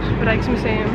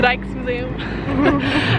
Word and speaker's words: Rijksmuseum: Rijksmuseum. Rijksmuseum.